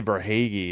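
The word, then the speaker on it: Verhaeghe: They say Verhagy is 11th unassist.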